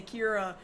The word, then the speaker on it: Kira: people are calling him because it means killer but they can't pronounce it right so they say Kira there's got to be